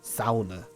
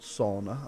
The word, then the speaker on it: sauna: a sauna God or something SAA as it's actually pronounced not sauna I like peasants I can't remember what they're